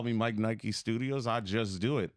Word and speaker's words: Mike N Ike: So everything is Mike N Ike Studios. It's spelled like Mike Nike Studios. And I like when people used to call it Mike Nike Studios on accident.